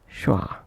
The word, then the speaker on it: schwa: Now moving on, let's understand schwa, pronounced as schwa.